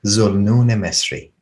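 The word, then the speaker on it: Dhu al-Nun al-Misri: is an egyptian figure named the nunel mystery or in the eastern pronunciation zul nunesri and atar records the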